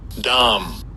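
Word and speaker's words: דם: And this word blood is H1818, and I'll give you a pronunciation of it. Strong's H1818. Dom.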